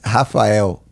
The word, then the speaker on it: Rafael: In Portuguese, it's Rafael. Rafael. That's Portuguese. Rafael. Yes. Rafael. That's the Portuguese, pronunciation.